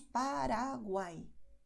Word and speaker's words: Paraguay: dólar, pero la diferencia es que la lengua es más rápida y hay menos contacto. Solo usamos realmente la puntita de la lengua. Por eso diremos Paraguay.